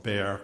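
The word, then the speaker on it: Bexar: chief medical examiner of Bear County Texas and for the transcriber bear is spelled be xar the exas silent um so I was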